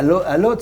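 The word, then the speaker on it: Łódź: des grandes marques de couture, à Varsovie, à Lodz, c'est comme ça qu'on prononce. Lodz, oui, ouais, donc ça.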